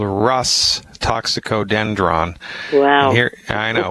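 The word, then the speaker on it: Rhus: all right first I'll say it then I'll spell it it's a Latin name it's called Russ toxicodendron wow here I know well here's how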